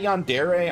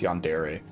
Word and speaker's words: Yandere: Is it Yandere? I'm never sure. Obviously, I want to say Yandere because that would be like the American pronunciation, but I think it's Yandere.